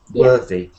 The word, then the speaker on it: worthy: worthier but and um the pronunciation was a bit strange worthy so worthy it's got a bird sound like uh worthy so um also you